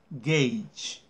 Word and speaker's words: gauge: it is very unusual you spell it like that and you pronounce gauge okay why I don't